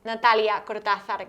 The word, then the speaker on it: Natalia Cortazar: So my name, and I'm going to say it properly to the camera, it's Natalia Cortazar.